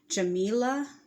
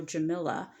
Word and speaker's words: Jamila: pronounce her name but I like um Jamila or jamala like Pamela jamala um or jamaila maybe or Jamila like vanilla so maybe I would probably say more so Jamila would be how I